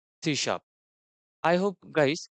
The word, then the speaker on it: C#: और इंट्रोड्यूस किया था देन सी शप प्रोनाउंस एस अ सी शप तो बहुत सारे लोग इसे सीश भी बोलते हैं पर इसका राइट प्रोनंसिएशन है सी शप आई होप गाइस कि